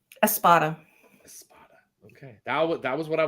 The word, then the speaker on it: Espada: Espada. Okay. That was what I was going to say. Or Espada. That's not what you were going to say. I was going to say Espada.